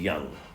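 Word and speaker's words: Jung: is c g young you're pronouncing young now archetypal criticism argues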